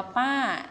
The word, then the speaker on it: ป้า: ไป อ่าเห็น ไหม ว่า เครื่อง หมาย ที่ ใส่ เปลี่ยน ไป ใช่ ไหม คะ แล้ว เสียง ก็ จะ เปลี่ยน ความ หมาย ของ คำ ก็ จะ เปลี่ยน ไป ด้วย มา ดู เออ คำ นี้ อ่าน ว่า ป้า ส่วน ความ หมาย ของ